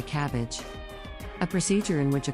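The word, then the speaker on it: CABG: A surgical procedure that is pronounced like a cabbage.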